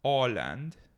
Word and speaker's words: Åland: It's Åland. That's how I would say it. Åland. Åland? Åland. Holland? No. Ireland? No. It's spelled A-land, but with an O on top of the A, like the O accent.